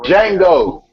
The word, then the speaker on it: Django: Hey, Django. The D is silent, motherfucker.